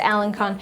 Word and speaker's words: Alençon: found this beautiful Alencon I believe you pronounced a alençon lace on etsy and it's